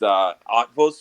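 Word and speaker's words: Eötvös: First of all, east to west is the I don't know how to pronounce it, but I think it's pronounced Otvos effect.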